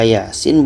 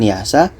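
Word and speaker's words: يس: yang ini dibaca Sin Kenapa dibaca Yasin bukan Yasa karena ini adalah fawatir Hurufnya harus dibaca satu-satu mengikut ejaan huruf hijaiyah Iya dengan Sin dan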